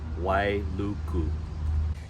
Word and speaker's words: Wailuku: right on the west my mountains and it's pronounced Wailuku if you head south you'll end up in